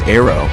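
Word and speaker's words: ARRW: have misspoken and describing ARR w which is pronounced arrow as a cruise missile the AGM won 8-3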